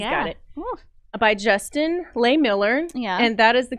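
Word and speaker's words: Lehmiller: By Justin Lay Miller.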